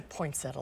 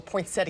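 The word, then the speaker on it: poinsettia: Susan I've never seen a poinsetta like that or poinet how do you say it you know what they're both appropriate so whatever you would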